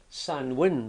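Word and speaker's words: Samhain: in particular which is it's pronounced sanwin but it's it's spelled something quite different it's spelled s a m h a i n saman but the sanwin Festival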